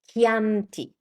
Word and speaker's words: Chianti: Another application of this rule is with this very other common word, Chianti. Chianti. It's not Chianti, it's Chianti. And this pattern also applies to g h.